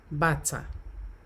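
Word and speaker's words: bàtá: Now, you will notice that bata, shoes there, and the other one underneath, that's a kind of drum, is pronounced bata.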